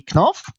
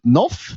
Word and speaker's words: Knoff: All right, so here we got Frederick, aka Knoff. Some people pronounce it Knoff, but here in Sweden we say Knoff.